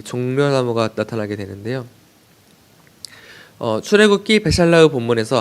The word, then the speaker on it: בְּשַׁלַּח: 그래서 베샬라흐, 샬라흐가 보내다, 샬라흐가 보세다인데요. 이 흐가 샬라흐입니다. 그러니까 흐는 흐인데 약간 크 같죠?